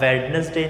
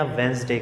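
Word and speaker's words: Wednesday: अब वेडनेसडे नहीं कहना, वेंसडे कहना।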